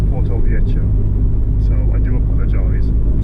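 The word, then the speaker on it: Porto-Vecchio: It's not Porto Vecchio or Porto Vecchio or whatever, it's Porto Vecchio.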